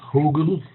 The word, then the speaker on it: Hügelkultur: All right, so with that, let's start with Hugelkultur. If you want to pronounce it the right way, the German way, it means hill culture. When I first heard about Hugelkulture, my first reaction was, it's not going to work.